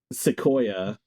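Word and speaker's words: Xicoia: Well, all I know is that AI talent studio Sequoia. That's how you pronounce it, by the way. I think Sequoia owns this character.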